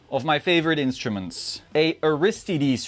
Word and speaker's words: Aristides: I know it's Aristides. They say Aristides, but all the Americans say Aristides. So now I say Aristides.